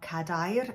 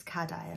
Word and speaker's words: cadair: The emphasis of that word is always on the penultimate syllable.